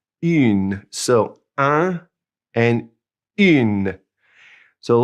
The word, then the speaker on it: une: And the other way is une, and since it has an E, now we pronounce that in une.